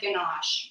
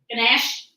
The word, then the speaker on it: ganache: Earlier you said ganache.